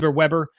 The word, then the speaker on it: Weber: Max Weber, I believe you pronounce it Weber, the father of charisma theory.